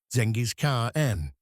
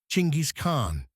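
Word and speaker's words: Chinggis Khan: In the West, we pronounce it with a soft G or a J sound. Zenis car N. But in Mongolia, it's hard. It's guttural. It's G. Chingis Khn.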